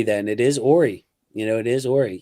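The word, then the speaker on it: Horry: Uh are you related to Robert Ory lol? Yeah that's my that's crazy. So, I I pronounced it correctly then. It is Ary, you know.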